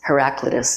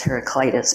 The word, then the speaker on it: Heraclitus: sure is and um there's two ways of pronouncing this this name of this famous um philosopher in English I believe we say um heraclitus and and I think in British English it's heraclitis but anyway that guy said